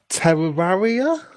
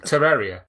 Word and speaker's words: Terraria: Souls 2 oh Dragon Age Inquisition and uh Terraria is that how you say it Terraria Terraria is that you say it that's right